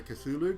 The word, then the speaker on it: Cthulhu: pronunciation guides for it i just say cthulhu because that's how i read it in my head and if i'm wrong